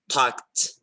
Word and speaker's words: talked: Okay, here the suffix ed can also be pronounced as t, t. Come on, it's ed, but it's pronounced as t. When, just like this word, just take a look. Talked, talked, talked.